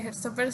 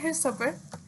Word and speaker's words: Heartstopper: Por cierto, estoy pronunciando Heartstopper así porque es como que creo que es como más se entiende. Pero yo comúnmente lo pronuncio en el inglés británico porque Alice Oseman es británica, entonces como que me parece que debería pronunciarlo con ese acento, entonces debería ser Heartstopper, pero ahorita no me